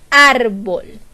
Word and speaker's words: árbol: más fuerza de voz a mí me parece que es la sílaba ar por qué yo digo árbol yo no digo árbol yo digo árbol y por lo tanto